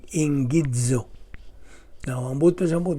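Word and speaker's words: ἐγγίζω: Now, i-pronounce kini og ingidzo.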